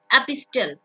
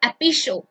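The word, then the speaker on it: epistle: Next word is, देखो ये जो वर्ड है ना, आई नो आप लोग इसको बोलोगे एपिस्टल। एपिस्टल, ठीक है, आप बोल सकते हो, क्योंकि एग्जाम के अंदर भाई हमारी प्रोनाउंसिएशन चेक नहीं की जाती, नॉलेज चेक की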